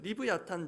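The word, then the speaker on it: לִוְיָתָן: 나왔던 베헤못 유사한 방식으로 히브리 원을 원어를 소리나는 대로 옮긴 것입니다 정확한 발음은 리브 아탄 정도가 됩니다 그리고이 리워야단 대한 해석도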